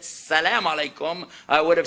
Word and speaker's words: alaikum: But the second part, they kept telling me, you're saying it wrong. I said, alaikum. No. Ah! It's standing back in here. Ah! Ah! Alaikum. Finally got it down, but I couldn't resist putting the Texas handle with it.